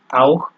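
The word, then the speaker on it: auch: তো মূলত আপনার এই ইউ ইউ এর সাথে সিএইচ যোগ হওয়ার কারণে এখানে আপনার ক্ষয়ের মতো উচ্চারণ হচ্ছে আউখ।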